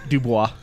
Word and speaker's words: Dubois: So the character of Robert Dubois. I knew that was going to happen, too. How do you say it? Dubois. Dubois. It's French.